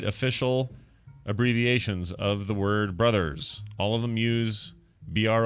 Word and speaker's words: Bros.: or not bros with a period should be pronounced as bros or brothers. And I say brothers, people say bros, course.